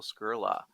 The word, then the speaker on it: Skurla: and today we have an interesting guest scurla is that the right pronunciation of your last name you nailed it